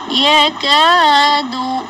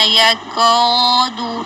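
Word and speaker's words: يكاد: احسانا، جزاء، یکاد، اس کو ایسے نہیں کرنا، یکاد، یکاد، اس طرح الف کو موٹا نہیں کرنا.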